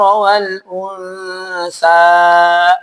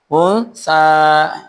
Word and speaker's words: وَالْأُنْثَى: Jangan sampai di ayat ketiga karena ada tanda mad, bacanya وَمَا خَلَقَ الذَّكَرَ وَالْأُنْثَى. Hati-hati. Ya, jangan sampai unsa.